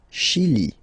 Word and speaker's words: Chili: Le Chili. Okay, remember, CH, ch. Okay, chi, Chili.